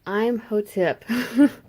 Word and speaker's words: Imhotep: Okay, so it's Imhotep.